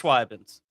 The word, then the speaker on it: Schweibinz: No, you said it wrong. Schweibinz. It's Schweibinz.